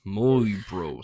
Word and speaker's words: Möjbro: The The Möyjbro stone. It's Just spell it out. I will. m o j b r o Möjbro stone. Well, the j's are wise. Möjbro stone.